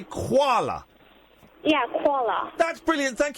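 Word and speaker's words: Kuala: you pronounce quala Lumpa is it quala or koala koala k k u a l a so you would say koala yeah qua that's brilliant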